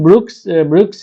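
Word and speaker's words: Brieux: यहाँ पे जो यूजिन ब्रुक्स है इसका ब्रू है, ये भी फ्रेंच है तो लास्ट में एक्स का प्रोनाउंसिएशन नहीं होगा इसमें।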